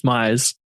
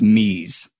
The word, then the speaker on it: Mise: I'm glad you said that, because what I learned this week is it's pronounced mise. Oh, I did know that. I did not know that. It's like mise en place or whatever.